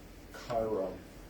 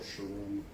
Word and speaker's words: Chiron: And then this one, I was thinking a bit about Chiron or Sharon or depending on how people have a few different pronunciations of her.